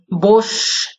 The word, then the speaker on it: বসু: এভাবেও লিপি বিভ্রাটের মধ্যে দিয়েও ধ্বনি পরিবর্তন হতে পারে, কিন্তু আসলে বাসু নয়, বসু উচ্চারণটা হয়ে থাকে।